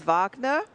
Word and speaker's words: Wagner: And now the German pronunciation is Vagnner, but in the United States it's spelled W A G Ner.